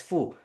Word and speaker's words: Fo: the letter C and my last name is simply spelled F O and pronounced as fu.